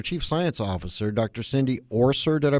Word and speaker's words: Orser: Cindy Orser. Did I pronounce it correctly?